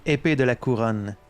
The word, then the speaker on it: Épée de la Couronne: I propose Épée de la Couronne, Swords of the Crown, in honor of my old unit. The least you could do is pronounce it correctly. Épée de la Couronne.